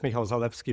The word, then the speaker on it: Michał Zalewski: The Polish pronunciation is Michał Zalewski, but I usually just go by Michael, and yeah.